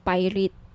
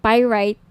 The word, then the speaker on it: pyrite: now if gusto niyo ng bracelet ito yung pirate pyrite sorry pyrite yung iba pronunciation pirate pyrite Okay 1,980 each may may